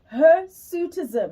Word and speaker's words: hirsutism: It's called her sutism. Am I pronouncing that correctly in talk? That is it. It's called her suitism and it is um a stiff or dark